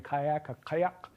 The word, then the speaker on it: kayak: if I insist on the original Inupiaq pronunciation of the word kayak, which is, kayak, a single-person boat, which in Inupiaq begins and ends with a uvular stop.